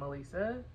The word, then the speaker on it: Alisa: introduction, like, hi, I'm Alisa. Anytime you see me write Alisa, I'm always gonna write the phonetic spelling of Alisa. It's pronounced literally A-Lisa.